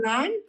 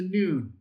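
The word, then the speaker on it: נון: A final nun, n u n.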